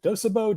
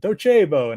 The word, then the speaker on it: Docebo: say like is it dosabo docebo and and so they asked me and i said you have to say it like the italians and docebo and it's a latin phrase well about a week